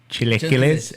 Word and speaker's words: chilaquiles: in Mexico for some chilacolas or chili hillies or chilaquiles out there pronounced by the people yeah chili killies that's my favorite that's